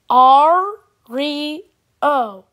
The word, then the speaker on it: Ario: my name all right here's how you pronounce my name r re oh R re oh Ariel